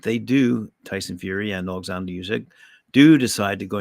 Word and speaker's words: Oleksandr: So anyway, he goes, while we're discussing facts, it's Oleksandr, not Alexander Usyk, as so many in the media have mispronounced his name.